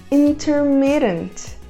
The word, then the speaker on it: intermittent: A próxima palavra é intermitente e a pronúncia dela não é muito intuitiva. Nós falamos intermittent.